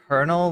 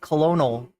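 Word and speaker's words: colonel: we say the word konel like kernel is German why we say the word yeah I always thought it was like colonal or Colonial or something kind of like in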